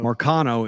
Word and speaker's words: Marcano: So Marcano is how you say his last name, but the first name I'm not even going to pronounce.